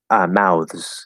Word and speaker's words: mouths: Sorry, maybe asking about mouths. Yes, mouths or mouths. That one I naturally like to do voiced. Mouths, mouths.